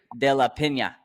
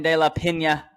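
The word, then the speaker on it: De La Peña: Pena has a little line on the end. De La Pena. There you go.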